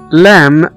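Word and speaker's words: lamb: زي مثلا كلمة كوم، C-O-M-B، اللي هو مشت، كوم، اللي هو مشت، احنا ما نطقناش هنا حرف البي. وزي كمان كلمة لام، L-A-M-B، اللي هو حمل، لام.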